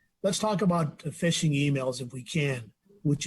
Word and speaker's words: phishing: from you um so phishing although it's spelled p-h-i-s-h-i-n-g not the f i s h i n g um is essentially trying